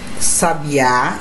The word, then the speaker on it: sabiá: Então observe aqui, gente, a mesma palavra, porém com sílabas tônicas em determinado lugar. Ó, sábia, sabiá e sabia. Parece ser a mesma coisa, mas não é não, gente. Observe aí a tonicidade.